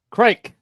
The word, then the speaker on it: Kolchak: The first pronunciation was correct. It's like cake with an R. Crake.